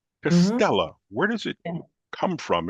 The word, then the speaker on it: Castella: this name and it's castella wait am I pronouncing that correctly castella is that it castella yes castella okay so I you know I do my